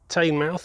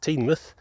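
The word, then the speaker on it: Teignmouth: baba kum and uh tame mouth which i've learned is now pronounced teen myth and yeah just more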